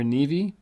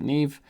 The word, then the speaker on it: Neve: new and search for neve or navi depending on how you pronounce it i pronounce it neve this is it right